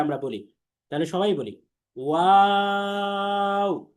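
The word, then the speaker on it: واو: আমার সাথে সাথে সবাই একবার উচ্চারণ করেন 3 আলিফ টেনে, ওয়াও।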